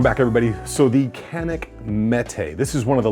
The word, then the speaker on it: Mete: a thousand times already it's the mete not the meta like i kept calling it but there's a lot